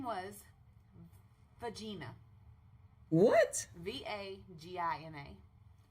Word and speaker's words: Vagina: V-A-G-I-N-A. Pronounced Vagina.